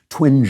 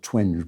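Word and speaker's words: Twenge: before about the psychologist Jean twin I think it's pronounced I sometime said twing but she wrote a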